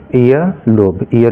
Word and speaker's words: ear: ठीक है, तो ये बात आप समझिए कि जो ब्रिटिश इंग्लिश होती है उसमें आर आमतौर पर लास्ट में जो होता है वो साइलेंट होता है, इसलिए हम ईयर पढ़ते हैं, ईयर।